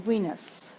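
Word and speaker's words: Güines: And in Guinas, which is spelled Guines.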